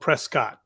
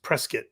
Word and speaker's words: Prescott: go was Prescott Arizona which is looks like it's spelled Prescott but it's actually pronounced Prescott which is I don't know I don't know